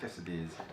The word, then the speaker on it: quesadillas: How do you pronounce that? Quesadillas? Quesadillas.